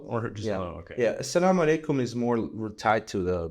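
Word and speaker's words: السلام عليكم: I read that you always say Assalamu alaikum. For sure. How do you say it correctly? Assalamu alaikum.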